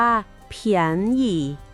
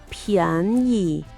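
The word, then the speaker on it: 便宜: คำ ที่ 7 เลย นะ คะ คำ ว่า เียน หยี่ ออก เสียง อีก ครั้ง นะ คะ เียน หยี่ แปล ว่า ถูก หรือ ราคา ถูก ผม ชอบ คำ นี้ ที่ สุด เผียน อี่ อีก ที นะ เผียน อิ แปล ว่า ราคา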